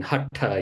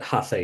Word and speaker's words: haṭha: Most people pronounce it Hatha Yoga, right? It's Hatha Yoga.